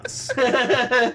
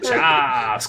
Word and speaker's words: Choss: By the way, everybody's been saying his name wrong. His name is actually Choss, bitch. Choss. Choss, queen.